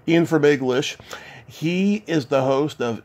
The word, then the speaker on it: Fermaglich: How do you pronounce his last name? Fermaglich. Ian Fermaglich.